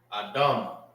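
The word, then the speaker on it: אדם: Sardius in Hebrew is Adam, I meant hold. All right. Adam, that's how you say sorry in Hebrew.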